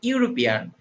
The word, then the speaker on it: European: Here see the word European. It starts with the vowel E. So it should be an before this word, but E is pronounced like U.